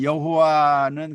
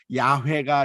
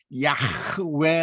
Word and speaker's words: 야훼: 사실은 여호와의 이름 입니다 우리가 여호와 는 그냥 정확한 발음은 아니고 야외가 정확한 발음이 라고 생각이 될 텐데 야훼 라고 하는 말이 무슨